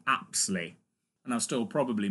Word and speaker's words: Apsley: I called her repeatedly Lucy Aspley, and it's really pronounced, and spelt actually, Lucy Apsley.